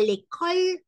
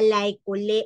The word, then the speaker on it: l'école: J'étudie à l'école hôtelière. No decimos j'étudie à la école hôtelière. No, sino que decimos j'étudie à l'école hôtelière.